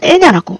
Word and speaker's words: Enya: 자신있게 말할 수가 있겠습니다이 엔냐는 사실 발음이 애냐입니다 애냐 근데 이제 우리나라에서 그냥 n야로 말이 그렇게 됐는데 사실은 애냐라고 해야 되는 거죠 그래서 실제로 국립국어원에서 나중에 애냐로 바뀌게 됩니다 근데 이제 이미 엔야로